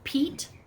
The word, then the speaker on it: Piet: up online go on google and search for Pete P IET Mondrian M o n DRA guys